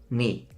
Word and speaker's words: knee: When K comes before the letter N, you don't say it. So it's not knie, it's knee. Not knife, it's knife. Not knight, it's night. Every single time you see